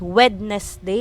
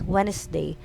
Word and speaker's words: Wednesday: don't sound this one it's not wednesday it's wednesday silent d we don't pronounce that already there it's wednesday